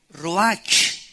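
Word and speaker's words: רוח: es la palabra hebrea Roach que se pronuncia ro La ch en el hebreo se pronuncia como j y que es la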